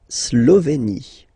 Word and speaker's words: Slovénie: La Slovénie. Remember, you get this accent aigu here, it's E. Slovénie. Final as usual, not pronounced.